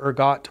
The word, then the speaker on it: ergot: One is ergot or ergot poisoning. I've heard it pronounced both ways. It looks French.